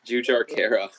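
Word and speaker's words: Jujhar Khaira: It's Jujar Kara.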